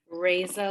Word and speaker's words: Reza: Reza, like ray of sunshine.